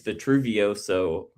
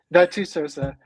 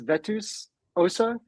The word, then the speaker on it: Vetusosa: I think that's the first time I've said that name out loud, so I definitely said it wrong. Vetusosa. And I'll tell you a good way to remember it is Vetus Osa is Latin for old bones.